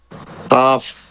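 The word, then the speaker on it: كاف: তালু, এটা হলো তালু, তালুর সাথে জিহবার গোড়াটা একটু আগে বাড়িয়ে কাফ, কাফ, কাফ।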